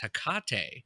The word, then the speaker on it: Hecate: But I remember that name being pronounced Hecate. So I wonder, are those two different people or is it the same and their names were just pronounced differently?